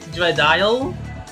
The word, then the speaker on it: Dreadial: I was Dreadial. Yes, that's actually how you pronounce my name. Dreadial.